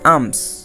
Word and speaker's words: alms: কারণ আমরা জানি বা আমরা রুলস পড়েছি যে এম এর আগে এল থাকলে সেই এল উচ্চারণ হয় না। আবার দেখো ALMS আমস অর্থ ভিক্ষা।